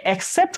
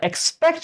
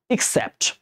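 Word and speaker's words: except: without অথবা এক্সেপ্ট ওকে উচ্চারণ এক্সেপ্ট করি উচ্চারণটা না বা এক্সপেক্ট না এক্সেপ্ট তাহলে উইদাউট অথবা এক্সেপ্ট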